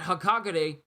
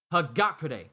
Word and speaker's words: Hagakure: nico or someone else someone told me in my last reaction that hakagare hagakure i'm to get her name right i'm never going to mispronounce it again hagakure was the one who